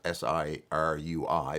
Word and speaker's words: Sirui: If I do bring the tripod, this is a Sirui, spelled S-I-R-U-I, but pronounced Sirui, Traveler 7C.